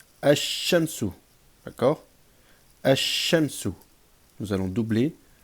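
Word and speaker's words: الشمس: wal lam rentre devant, le lam ne se prononcera pas. D'accord? Mais ce qui va se produire, c'est que nous allons par contre doubler cette lettre en rajoutant une shadda. Donc on va pas dire ash-shams, on va dire ash-shams, ash-shamsu.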